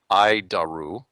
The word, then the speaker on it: ADIRU: data initial reference unit we pronounce it id daru id daru it's horrible name I'll keep trying ID